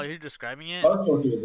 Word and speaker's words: Strfkr: how you're describing it, Starfuckers, right? huh? Yes, Starfuckers? Yeah, yeah. it's Starfucker, but it's spelled Strfkr, Okay.